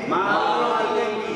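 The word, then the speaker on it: مَالِكِ: লি, লাম কি, লাম জের লি, হবে কি মালিকি, বাংলা না দেখা মালিকি, মালিকি, তাড়াতাড়ি মালিকি, মালিকি, আবার বানান করেন মিম জবর মা, মিম জবর মা, লাম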